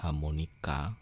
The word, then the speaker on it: HamoniKR: Ya, ternyata ini cara bacanya adalah harmonika karena asal katanya adalah harmonika. bahasa Koreanya harmonika tapi dicombine dengan huruf KR untuk Korea.